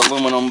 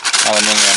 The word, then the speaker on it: aluminium: Usually pronounce it aluminum, but across the pond they say aluminium, and I like the way that sounds.